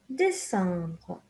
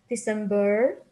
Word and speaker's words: décembre: Septembre, Octobre, Novembre, Décembre. Remember that it's not September, November, December, it's bre.